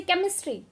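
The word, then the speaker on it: chemistry: जैसे केमिस्ट्री, sound आ रही है के बट स्पेलिंग है वहाँ पर सी एच, ठीक है।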